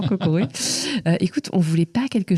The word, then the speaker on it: Kokoroe: bien OK tu vois et parfois j'ai le droit à cocorico et je suis non non cocoré écoute on voulait pas